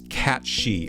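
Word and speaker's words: Cat sìth: here at the moment just Googled it Celtic mytholog mythological cat fairy pronounce cat she okay thank you that sounds right thank you yeah Crush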